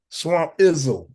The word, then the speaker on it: Swamp Izzo: Swamp Izzo.